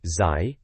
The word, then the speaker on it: Zai: And ZY, or Zai, as it's pronounced, has been off to Japan talking to N64 developers.